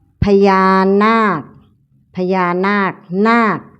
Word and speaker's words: นาค: พยาน นาค พญา นาค นาค สะกด ด้วย ค ควาย ออก เสียง เหมือน ก ไก่ สะกด นอ อา ก